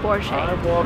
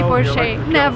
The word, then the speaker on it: Porsche: is called Porsche, and that's the right way to pronounce it. Because it's a German name, the stress goes to the first part of the word, and we say Porsche. Remember, never say Porsche.